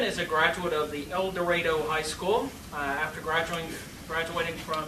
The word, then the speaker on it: El Dorado: Judge Leben is a graduate of the El Dorado High School. After graduating from the KU Law School, I did pronounce that correctly.